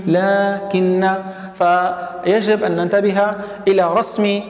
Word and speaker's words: لكن: وأيضا عندنا حرفي لكن ولكن. لكن هو حرف عطف يفيد الاستدراك، ولكن حرف طبعا مشبه بالفعل، وهذان الحرفان يجب أن نحذف الألف بعد اللام. نحن نقول لكن، لكن، فيجب أن ننتبه إلى رسم هذه الكلمات بشكل صحيح.